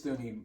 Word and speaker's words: Thuney: Is that how you say his name? I believe it's Thuney.